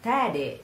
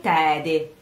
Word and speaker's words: tede: So, oh, nuziali, nuziali, nuziali, nuziali tede, rhyming with piede.